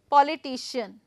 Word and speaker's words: politician: know that potian so here I'm going to put the stress on this on this right I'm just going to use this black one politician now right so poan here I'm